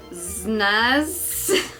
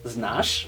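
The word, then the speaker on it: znaš: Znaz. There's a V on the S, so it's znash. Znash.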